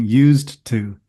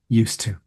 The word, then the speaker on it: used to: to I'm not saying used to because that's a little difficult to say so most native speakers pronounce it as used to omitting the D sound in used in terms of grammar